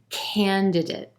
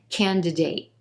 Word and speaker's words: candidate: makes it sound a little different can can candidate you'll also hear candidate candidate with more of a full a sound